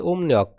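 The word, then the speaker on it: 음력: দাঁড়ায় ইয়াং নিয়ক কুয়া এরপর হচ্ছে উমনিয়ক এখানে ঋউল উচ্চারণ হবে ন তাহলে কি দাঁড়ায় উমনিয়ক ইয়াং নিয়ক কুয়া ওমনিয়ক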